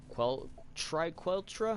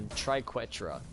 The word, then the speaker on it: triquetra: as what was it, like a triqueltra? I think that's how you say it. I forgot, to be completely honest. I don't think there actually is any L. A triquetra. There you go. I think that's how you're supposed to say it.